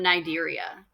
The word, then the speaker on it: Cnidaria: They are in phylum Cnidaria. The C is silent.